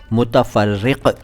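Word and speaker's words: मुतफ़र्रिक़: समझता है इसके बाद मुत फ्रिक दोस्तों मेरे उच्चारण पर ध्यान दिया कीजिए मैंने मुत फ्रिक बोला है मुत फ्रिक नहीं बोला मुत फ्रिक नहीं बोला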